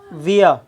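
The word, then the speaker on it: via: ये जो विया शब्द है, कुछ देश में जो प्रोनाउंसिएशन जो होता है वो वाया होता है, वाया। बट ब्रिटिश में जो होता है वो विया होता है, और इंडिया में मोस्टली विया ही पढ़ते हैं, ब्रिटिश में भी विया पढ़ते हैं।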